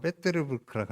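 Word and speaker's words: Петербург: 러시아에 지금은 이제 모스크바가 수도인데 이전에 영어로는 세인트 피터스부르크, 러시아 발음으로는 페테르부르크라고 하는데 거기에 가면은 에르미타주 여기 보는 것처럼 너무너무 아름다운 이게 박물관이 있어요.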